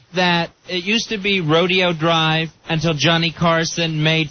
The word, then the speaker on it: Rodeo: I've never heard anyone call it rodeo, but it's spelled like rodeo.